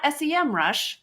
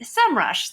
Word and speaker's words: Semrush: But it is not SEM Rush, which is what I've been calling it for 1,000 years. yes, It's actually SEMrush.